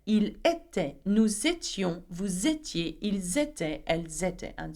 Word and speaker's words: étiez: Vous étiez, okay, remember I-E-Z, make sure that you pronounce the I.